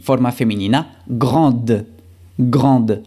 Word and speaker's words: grande: Y forma femenina, grande. Grande. Al igual que frío, aquí pronunciamos la D final cuando es femenino y no pronunciamos la D final cuando es masculino.